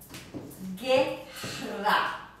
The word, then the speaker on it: guerra: G-U-E, guerra. In these two combinations, then the U is silent.